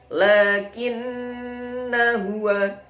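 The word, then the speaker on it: لَّٰكِنَّا۠: Hati-hati, 'na' dibaca pendek. Lakin hua lakinah lakin hua.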